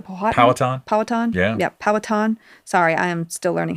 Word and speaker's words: Powhatan: Yeah, Powhatan. Sorry, I am still learning how to pronounce some of this.